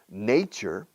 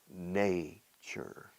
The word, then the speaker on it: nature: Fíjate cómo se pronuncia, se cambia la pronunciación. Nature, what's the first letter in the English alphabet? The first letter, A. Nature. Chur. Como iglesia, church, sin la che al final. Nature.